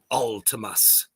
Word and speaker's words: Vltimas: feel so dumb because I never really knew how to pronounce this band's name yes as David Vincent uh pointed it out before our interview about a month ago that uh it is Ultimus and it's like some